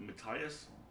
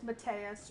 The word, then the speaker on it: Matas: globally available auditions and I'm pronouncing it Matias and as I'm the narrator it's it's Matas I have notes for